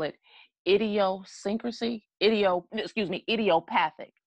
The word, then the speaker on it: idiopathic: idiosyncrasy IDEO excuse me idiopathic idiopathic and IDEO like idiot which is their textbook